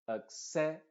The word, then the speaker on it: accessible: Y en palabras terminadas en ible, la I es pronunciada como una schwa. Y la E también se está pronunciando como schwa, solamente que esta E está pronunciándose entre las dos consonantes, la B y la L. Es como que dijera bel en vez de ble. Entonces diríamos, por cierto, la primera A también es una schwa.